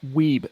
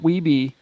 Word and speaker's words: Weeb: It's pronounced Weeb, not Weeby in Canada. American Weebies pronounce it Weeby. So it's Weeb.